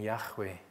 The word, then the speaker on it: Yahweh: Now this name, which appears as YHWH, the most widely accepted pronunciation being Yahweh, it's a hugely significant name.